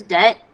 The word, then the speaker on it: debt: Deb oh okay yeah here the B is is silent I don't know why maybe it's because it's a word English borrowed from French I don't know that's what I'm that's just a guess don't quote me on that but anyways uh I do know that the the the be is silent uh but yes de